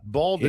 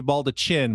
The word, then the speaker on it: baldaquin: Baldaquin. It looks like maybe baldachin, but it's pronounced baldaquin.